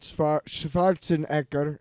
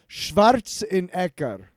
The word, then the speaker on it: Schwarzenegger: Running Man featuring Arnold Schwarzenegger is how you pronounce it in German. Schwarzenegger.